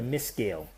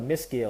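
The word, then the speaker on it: Meskel: you the history, the cross is called a miscale.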